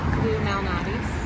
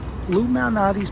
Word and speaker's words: Lou Malnati's: So we just Ubered to, how do you pronounce that? Lou Malnati's.